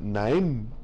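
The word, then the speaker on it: נעם: Entonces, la gracia, hermano, se pronuncia naem, es una raíz primaria, y eso significa mostrarse de acuerdo.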